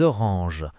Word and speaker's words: oranges: des pommes, des bananes, des oranges. Les S à la fin ne se prononcent pas mais ils sont importants à l'écrit.